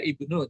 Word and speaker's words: Ibnu: Sebenarnya ini bin ini bacanya ibnu.